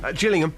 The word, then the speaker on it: Gillingham: beating Gillingham get jilling is it a soft G or a hard G just Gillingham thank you very much